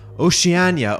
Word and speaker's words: Oceania: And then to all of the other continents: Asia, Africa, South America, Oceania actually is what it is. It's a hard C.